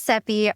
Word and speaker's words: Seppi: My name is Seppi, rhymes with Peppy, and as y'all can see, I am back home in Malaga, Spain.